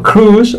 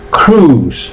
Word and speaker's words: Cruise: Tom Cruise no se dice. Y en todo caso se dice Tom Cruise. ¿Veis que la I no suena? Tom Cruise, o simplemente Cruise, que es crucero, ¿vale?